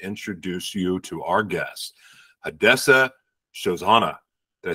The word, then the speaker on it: Hadassah Shoshanah: Here's the inflection of the syllabic inflection and the prosody. It goes Hadassah Shoshanah.